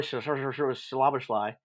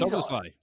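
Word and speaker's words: Szoboszlai: I like our boy Slaberschlei. Yeah, I can't ever pronounce his name right. Dominique He's Soboslai.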